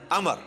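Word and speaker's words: عمرو: उमर की बजाय पढ़ना है अमर।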